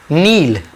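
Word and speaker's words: kneel: कैट कैट की का मतलब रखना कि फैट नील घुटनों के बल बैठ ना यह मैंने सिर्फ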